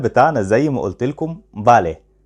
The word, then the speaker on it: Vale: اسم الكتاب بتاعنا زي ما قلت لكم بالي، بس يا سينيور دي مكتوبة بالفي، مش مشكلة خالص، هقول لكم ليه بتتنطق بالي.